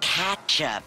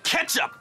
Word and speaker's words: ketchup: Not till you pronounce it ketchup. It's pronounced ketchup. Just like it's spelled.